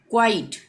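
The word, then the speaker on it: quiet: ठीक है, यहाँ पे भी क्वा का उच्चारण होगा। क्वाइट, क्वाइट मतलब क्या होता है?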